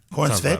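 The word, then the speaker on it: Corenswet: Starring Superman, we have David Cornsweet. I don't even know how to say it. Is that how you say Cornsweet? I think you got it right. Cornsweet?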